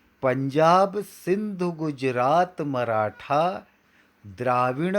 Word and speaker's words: गुजरात: यहाँ पर गुजरात त तलवार का बोलना है, ट टमाटर का नहीं।